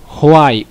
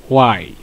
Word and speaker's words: why: প্রথমে অনেকে এটা হোয়াই উচ্চারণ করে, হোয়াই অর্থাৎ বাংলায় হ উচ্চারণ করে। তো এটা বলে দিই যে এটা হোয়াই না, এটা হচ্ছে ওয়াই।